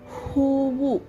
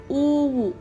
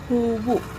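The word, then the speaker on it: ಹೂವು: Huvu. Huvu means flower. Uvu. See this there is no word called uvu. Okay, it should be hoovu.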